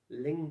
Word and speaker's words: Lange: Un hermano de Norteamérica que se llamaba Donald Len, su apellido también era alemán. Uh-huh. Se pronuncia así como Len, como centavo, Uh-huh. pero se escribe Lange.